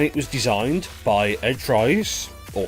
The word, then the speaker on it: Fries: And it was designed by Ed Fries, or Freeze. It's spelt Fries, but I'm told it's pronounced Freeze.